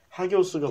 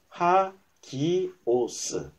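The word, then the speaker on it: ἅγιος: 여기서 보면 하기오스가 붙죠. 요게 이 알파벳 A에 요 땡땡이 있으면 H를 읽어요. 하기오스. 요거는 쉽죠? 여기가 IOS니까 하기오스.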